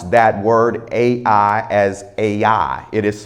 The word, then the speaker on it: Ai: you we pronounce that word a i as a i it is spelled a i it is known as a